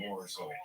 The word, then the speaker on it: Borzoi: You're mispronouncing Borzoi.